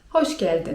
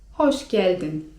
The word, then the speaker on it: hoş geldin: To wtedy pracownik może was powitać słowem: hoş geldin (czyt. hosz geldin) I to oznacza po prostu 'witaj'.